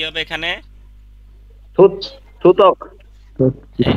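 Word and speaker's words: 듣기: এখন বলেন উচ্চারণ কি হবে এখানে? থুত, থুতক। এই যে থু আর ত, থুত। আর এখানে হবে কি? থুত ক। থুতক।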